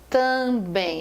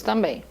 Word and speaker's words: também: nós chamamos de dígrafos também quando você fala também também você não pronuncia o m eu não falei tamb